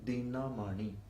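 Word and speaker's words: दिनमणि: words say for example dinamani is a word d is a short syllable na is short ma is short and running is short so for short syllables if someone sings it not keeping the words enter the short syllable has to be sort if you slightly prolong it the word becomes a different and it gives you a different meaning so dinamani means the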